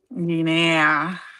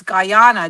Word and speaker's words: Guyana: Gina, that's why I kept saying gina because that's how you spell it. It's how it's spelled. But actually, no, that's that's that one's in Africa. It's Guyana. Guy A.